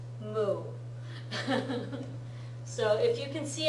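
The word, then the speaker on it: も: especially with this version see a cow and it's pronounced moo so if you can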